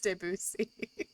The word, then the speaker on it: Debussy: Clair de Lune by I used to say Debussy, but now common or popular culture has made me want to mispronounce that, and I don't like it. But I'm pretty sure it's Debussy.